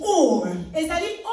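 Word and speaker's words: אור: Now the Hebrew word for light is or. It's spelled O-R, which means to give light or to shine.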